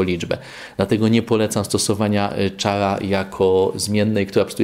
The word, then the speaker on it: char: Jeszcze krótszą zmienną będzie zmienna k, czy char, jak to wymawiać, bo jest to skrót od charakter, ale tak to się chyba wymawia już jako char.